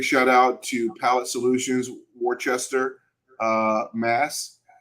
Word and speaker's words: Worcester: So there's no R in Worcester. Did you know that? Really? No, there isn't, man. It's crazy to me. How do you spell it? I don't know, but it's no R in it, man. I'm telling you for sure. Worcester.